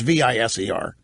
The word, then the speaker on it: Viser: His name is Matt Viser, or Viser, it's Viser. I never heard of him.